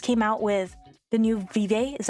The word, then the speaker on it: Vive: not they just came out with the new Vive is how you pronounce it headset it's it's like okay it's